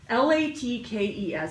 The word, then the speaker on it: latkes: the dreidel gambling game la tkes some people pronounce it Black Keys but my family we always pronounced it latkes so I'm not real